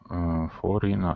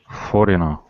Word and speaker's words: foreigner: Like foreigner. Yeah, actually it's just the G. It's just the G. The other ones you may think they're silent, but it's actually just the G.